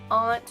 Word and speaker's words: aunt: is definitely southern and that's between aunts and aunts I say aunt which I know is weird but I was raised to say and I guess that ought sounds better but I don't want to like change it in the middle I want to change it and call start calling my aunt aunt another one that I